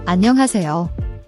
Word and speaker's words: 안녕하세요: The an-ha is often aspirated, like a soft H sound where you breathe out. Don't make it a harsh H. The part flows smoothly, almost like "hey-seo."